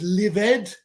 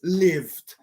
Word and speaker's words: lived: noise destroyed destroyed um lived no it's livid it's lived closed no it's closed it's